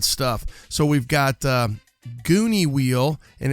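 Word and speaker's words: Guni: some really rad stuff so we've got uh gooney wheel and it's spelled g-u-n-i so check it out gooney wheel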